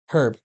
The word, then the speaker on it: herb: So all I have to do is just Type in herb. herb.